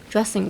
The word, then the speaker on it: dressing: Usually whenever words with the ING comes on, I would say drop the G and make it silent. But in this case, I would say pronounce it.